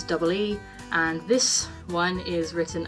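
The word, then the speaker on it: い: gotta remember that the it's written as I put pronounces EE and this one is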